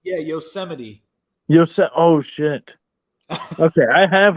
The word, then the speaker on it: Yosemite: Do you know how it's pronounced? Yeah, Yosemite.